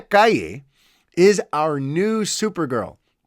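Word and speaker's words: Calle: we also got sasha kali kaiye i mean i want to say because that's how you pronounce c-a-l-l-e but sasha kaye is our new super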